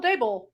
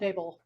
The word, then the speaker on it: Daybell: How do you spell that? D-A-B-E-L? Daybell. As I said, Daybell.